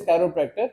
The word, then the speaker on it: chiropractor: बहुत से लोग वाकिफ नहीं, इवन के लोग इसको सही प्रोनाउंस भी नहीं करते। The word is कैरोप्रैक्टर।